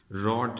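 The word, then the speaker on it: wrought: रॉट, इसका W silent है।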